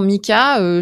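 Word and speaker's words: MiCA: définir qu'est-ce que c'est Mika alors c'est pas le prénom de quelqu'un ça s'écrit MCA mais est-ce que tu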